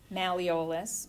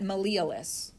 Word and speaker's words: malleolus: So, I mean, I've heard some docs pronounce that malleolus. So it's either way, a horse apiece. Malleolus or malleolus, either way is correct.